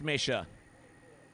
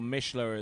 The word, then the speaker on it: Mishler: get it scored so Alexis misher or Mishler as I uh should properly pronounced so here we go